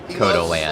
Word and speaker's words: Cotaland: Now our owner, they call it Cotaland, so I guess I've been mispronouncing it. Cotaland.